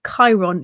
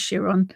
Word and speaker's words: Chiron: to Chiron, but then found that it's pronounced Chiron. Yeah, I thought it was Chiron, and realised I'd been saying his name wrong for years.